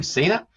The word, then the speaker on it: Cena: John Cena uh who I'll pronounce his name right I got all sorts of Internet when I did an early podcast and I pronounced his name Senna or something but um joh Cena